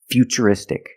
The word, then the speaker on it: futuristic: the T as CH and we see t r i in futuristic again the t is pronounced with the CH sound so the first word future and the second word is futuristic future is a noun